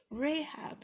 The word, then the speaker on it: Rahab: Let's see if I pronounce it right this time. Rahab. I said Rahab again. Rahab.